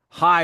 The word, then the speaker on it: Ai: Ai, or high really in Hebrew, but we'll go with AI, the pronunciation people usually use.